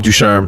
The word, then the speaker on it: Ducharme: Dominic Ducharme or whatever? How do you say his name? Dom Ducharme, assistant coach of the Montreal Canadiens.